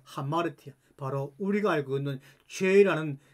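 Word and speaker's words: ἁμαρτία: 피해 하려고만 합니다 아닙니다 마르티아 마르티아 신약 성경에 나오는 헬라 발음입니다 하마르티아 바로 우리가 알고 있는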